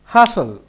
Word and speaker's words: hustle: এরপরে হচ্ছে হাসল। এখানে টি আছে, বাট উচ্চারণের সময় আর টি আসবে না।